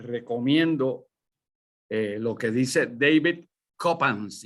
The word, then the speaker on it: Coppens: En estos tiempos donde se habla de monedas, les recomiendo lo que dice David Coppens, y Coppens se escribe K-O-P-A-N-S, David Coppens.